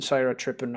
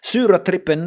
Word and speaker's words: Sura Trippin: Because Tribal Cloud number 9 is only 2 minutes more or less, and then Syra Trippin or Sura Trippin as it's pronounced in Swedish, which is supposed to be.